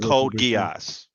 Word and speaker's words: Code Geass: It's pronounced Code Geass.